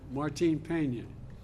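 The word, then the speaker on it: Martín Peña: canal to restore Cano, help me with the pronunciation. Martin Peña, that entire ecosystem.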